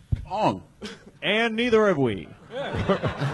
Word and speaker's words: Oung: Like my actual Chinese name is Wong, but they spelled my actual last name O-U-N-G. I've never known how to pronounce that my entire fucking life. Wong.